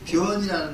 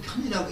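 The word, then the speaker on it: 遍: 내가 지닌 수승한 복이 변장엄이다 해서 변이라는 말은 보통 편이라고 읽는데 두루. 불교에서는 용어로 갖다 변이를 읽습니다.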